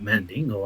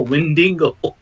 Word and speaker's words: Wendigo: It's funny because I said Wendigo and everyone's like Mandingo. I'm like, no, Wendigo.